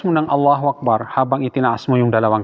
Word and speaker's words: Allahu Akbar: Unang pagkakamali dito, sa pagbigkas ng Allahu Akbar, yung pahabain mo yung hamza, yung Allahu Akbar. Mahaba. Allahu Akbar. Mali. Hindi diretso. Allahu Akbar.